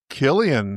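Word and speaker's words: Cillian: Killian. Nice pronunciation.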